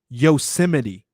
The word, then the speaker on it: Yosemite: And then I sit here and I'm like, hey, it's pronounced Yosemite.